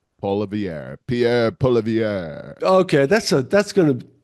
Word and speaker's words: Poilievre: Polivier. Poilievre.